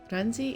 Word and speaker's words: Ghazni: Ghazni is spelled with a G, but it keeps getting pronounced with an R.